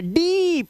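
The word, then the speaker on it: deep: यानी कि यहां पर आपको उच्चारण इ नहीं करना है। ई करना है। तो यहां पर ई का साउंड जैसे डीप ध्यान से सुनना। यह लॉन्ग बाउल साउंड है। सुनो मैं क्यों बता रहा हूं आपको बार-बार? यह अगर आपने इसका उच्चारण ड, ड पे छोटी इ की मात्रा और प कर दिया, डिप कर दिया तो आपने बोल दिया डिप।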